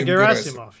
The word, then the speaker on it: Gerasimov: I'm not sure how to pronounce this guy. Gerasimov. Yeah, Gerasimov, yes.